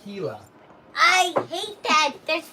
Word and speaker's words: Gila: yellow monsters i don't sell those and it's pronounced gila i hate that there's pronouncing i always get